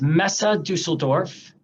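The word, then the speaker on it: Messe Düsseldorf: events solely in detroit this pronounce that name pronounce that name one more time for me sure it's mesa dusseldorf beautiful and and mad events and this group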